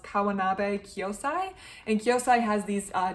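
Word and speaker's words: Kawanabe Kyōsai: a particular Japanese artist I think it's pronounced kawanabe kosai and kosai has these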